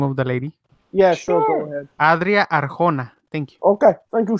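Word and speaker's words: Adria Arjona: don't say can I print uncle's can I pronounce the name of the lady yes adrià Arkona thank you okay thank you so much I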